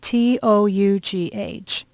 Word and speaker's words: tough: For example, pronounce for me T-O-U-G-H.